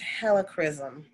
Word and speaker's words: helichrysum: right and an essential oil that's recommended is helichrysum i never heard of that helichrysum it's spelled h-e-l-i c-h-r-y-s-u-m never heard of that one